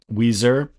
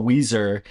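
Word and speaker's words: Ouiser: First of all, Weezer, it's not spelled like the band Weezer. It's spelled O UI S E R Bais.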